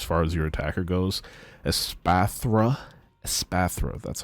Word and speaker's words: Espathra: show here as far as your attacker goes asatha asatha that's that's how you pronounce it pathra ex uh this is a